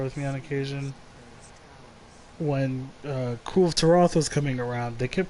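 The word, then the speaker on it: Kulve Taroth: and the Monster Hunter the literal Monster Hunter community manager, the Monster Hunter World community manager, has specified that it is Cool of Taroth.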